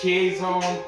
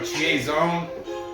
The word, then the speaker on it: Chiasson: I think it's Chiasson, but I've heard it pronounced like 3 different ways. I'm just gonna go with Chiasson.